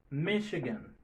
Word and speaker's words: Michigan: Michigan, Michigan. Donc, ouais, c'est H va prononcer comme Michi, c'est pas Michigan.